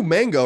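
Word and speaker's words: Maingot: Mango wrote into us, and I think it's how you say it, M-A-I-N-G-O-T. It's not spelled like mango the fruit, but rather French mango.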